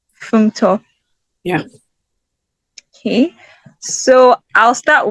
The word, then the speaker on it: Funmto: Welcome, Funmto. I don't think I pronounced your name properly. No, it's lovely to meet you. Hi, my name is Funmto. It's pronounced Funmto. Funmto.